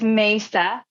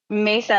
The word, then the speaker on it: Mesa: like it is Mesa Mesa like table but I love how